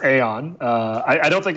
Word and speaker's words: Aion: how do you pronounce it yeah it's it's pronounced Aon uh I I don't think I had anything